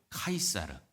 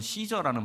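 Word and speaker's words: Caesar: 역사상 가장 강력한 황제 율리우스 카이사르, 영어에서는 시저라는 발음을 쓰죠.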